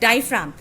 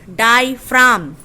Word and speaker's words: diaphragm: द डायफ्राम, ये G is silent, डायफ्राम.